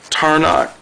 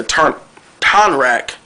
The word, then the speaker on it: Tonrak: But when Tarnak tells his story, or how you pronounce his name, I wrote him down. Tarnak, yeah, Tonrak. When he tells his story